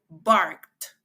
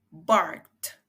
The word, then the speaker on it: barked: pasado simple the dog barked the dog barked énfasis de la t al final para este verbo también por